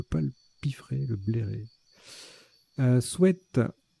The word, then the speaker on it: sweat: Sweat, tiens, qu'on peut prononcer sweet maintenant, c'est nouveau. On a toujours dit c'est sweat, sweat, sweat. Et ben donc on peut dire sweet, voilà, maintenant.